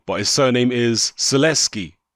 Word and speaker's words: Sulecki: but his surname is Celeste key I believe it's pronounced LS key that's how I remember the HBO comedy is pronounced in anyway so if